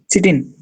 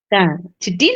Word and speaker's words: chitin: Chitin. Chitin or chitin also we can pronounce it.